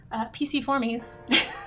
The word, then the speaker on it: Piciformes: I learned how to say, if nothing else, Piciformes is how you say it.